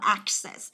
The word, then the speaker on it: access: Đó, đọc là access.